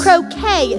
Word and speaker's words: croquet: Croquet, the T is silent, and we got to play the game if we want to fit in with the sacred 36.